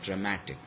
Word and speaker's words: dramatic: added to it, so the stress is changed from the first syllable to the second syllable. Okay, so we have got dramatic, mat, so it is the mat which receives the stress.